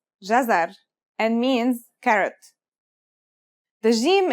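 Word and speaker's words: جزر: it out loud it should be easy it's pronounced jazzar and means carrot the gem is connected to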